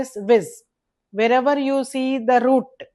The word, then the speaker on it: vis: The root is vis, which is pronounced as viz.